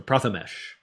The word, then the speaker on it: Prathamesh: And so the mesh in Prathamesh is pronounced like it rhymes with flesh, not mesh. So Prathamesh.